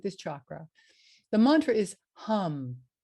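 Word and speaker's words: ham: The mantra is hum. It's spelled H-A-M, but pronounced H-A-H-M, hum.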